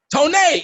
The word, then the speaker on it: Tonay: Did I say it right? Tonay. Yes, I said it finally after this whole fucking podcast.